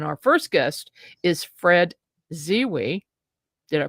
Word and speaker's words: Zewe: And our first guest is Fred Ziwi. Did I pronounce that right, Fred?